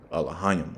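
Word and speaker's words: אֱלֹהִים: The correct way of saying it would be Elohim.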